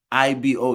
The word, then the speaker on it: Igbo: where were you born there is definitely a g in it yes sir but it's not pronounced Igbo it's IBU IBO is how it's pronounced